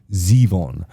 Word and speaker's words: Zevon: He introduces it himself and pronounces his own name Zeon.